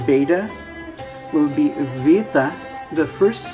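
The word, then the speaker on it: βήτα: And so then what we would call eta, to make the A sound, when we say beta, actually you would say vita, vita.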